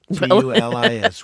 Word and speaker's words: Tulis: Tulis. 1 L? Right. 1 L. T-U-L-I-S. It's like tulips without the P.